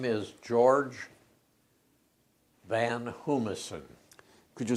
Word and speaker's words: Van Hoomissen: what is your name my name is george van hummerson could you spell it george is g-e-o-r-g-e the last name is